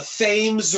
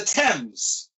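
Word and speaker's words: Thames: the River on the East and I am pronouncing this correctly if you're living in Connecticut the fames River when I first moved to Connecticut and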